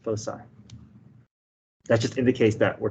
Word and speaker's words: foci: it foe okay so you pronounce that c with an s foci that just indicates that